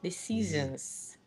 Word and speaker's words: decisions: develop a way to help them pronounce the Z at the end instead of an S, and so far I haven't found it, to be honest. Z. Decisions.